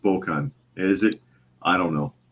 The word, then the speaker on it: Spokane: to close his restaurant Gary Edwards says it's pronounced Spokan is it I don't know I added the E all right Spokan Spokane Washington flukeman says but